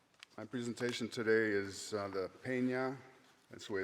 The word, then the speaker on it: Pena: My presentation today is the Pena, that's the way it's pronounced, Pena de Brueys War.